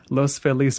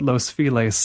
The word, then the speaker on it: Los Feliz: i haven't trained myself to the correct pronunciation it's los feliz but los feliz in the local pronunciation uh how does how